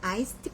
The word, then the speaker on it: iced: 그러니까 우리가 아이스 커피가 아니라 아이스트 커피. 그래서 아이스에다 D를 붙여서 발음을 꼭 하세요. 그래서 I'd like an iced coffee 이런 식으로 하거든요.